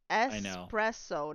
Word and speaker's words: espresso: before watch your mouse espresso not X there's no X in espresso not it's